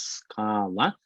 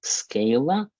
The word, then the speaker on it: Scala: knowledge by the way it's pronounced scala not scala because that is an italian word and it comes to